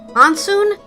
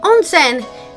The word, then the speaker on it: onsen: Onsoon? Onsen? Onsen!